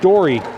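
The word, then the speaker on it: Dore: staying that's Matt Dori dor e pronounced Dori and this is not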